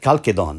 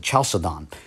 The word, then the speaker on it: Chalcedon: the split, which happened at Chalcedon, or as some pronounce it, Chalcedon, in the mid-5th century.